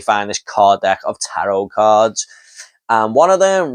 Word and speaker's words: tarot: Next up we have Tarot. I called it Tarot, but apparently this movie says these cards are pronounced tarot.